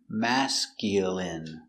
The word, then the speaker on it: masculine: the dog looks masculine pronunciation masculine m a ma s Mass C mask y mask mask Mas mascu mascu m mascul masculine masculine masculine stress on the first syllable mask masculine masculine masculine